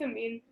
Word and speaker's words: Amin: Oh, the Amin? Is that how you say it? How do you say your name? It's Amin. Yeah.